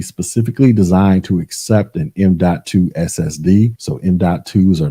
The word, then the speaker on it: M.2: talk about the m.2 and yes it is pronounced m.2 this is an SSD that can mount directly